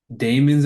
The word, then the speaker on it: Daemons: It's called Daemons of the Shadow Realm. It's not demons, it's daemons.